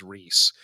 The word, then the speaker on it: Reese: go for, 3.5 years, actually, Tommy, my name is Reese. Yeah. Like you're going to embarrass the fuck out of them. I genuinely hope to build a 15-year friendship with someone who gets my name wrong. And then at my funeral, then when someone stands up and says my name, they go, "What? I've been calling him Rise this whole time."